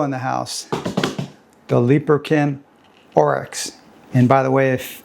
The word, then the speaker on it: Oryx: And I got sent a picture of an antelope, which I knew that's what the orex is a breed of um antelopee. So, and that's how you pronounce it, orex.